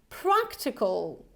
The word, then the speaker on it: practical: pronounce it the transcription practical practical right so by now I hope that you will memorize that this Al ending is always like all all practical practical so compare